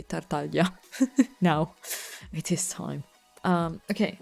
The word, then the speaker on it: Tartaglia: If I'm gonna pronounce it the Italian way, Tartaglia.